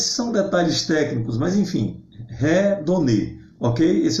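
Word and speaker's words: ἡδονή: Por exemplo, a palavra hedonismo, no original grego, né, é redonê. Por quê? Porque o primeiro eta, ele é pronunciado, visto que ele tem um espírito áspero, é um sinalzinho em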